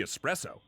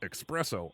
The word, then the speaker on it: espresso: world war ii introducing the espresso which i mispronounced expresso all the time a small concentrated cup